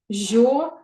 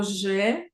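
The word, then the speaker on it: je: дієслово обідати жо я Зверніть будь ласка увагу на вимову жо вимовляється жо як льн багато хто вимовляє його неправильно або же або жі або жо Неправильно Треба говорити ж Скажіть будь ласка льн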